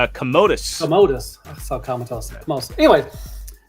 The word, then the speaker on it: Commodus: Comatose? That is Commodus.